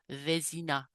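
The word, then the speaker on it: Vézina: H I looked at the acute above the E and that would be pronounced A. So V the I would be E. So Vina.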